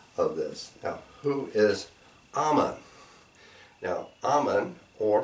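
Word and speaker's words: Amun: That's pretty close to the pronunciation in Egyptian of who we're talking about.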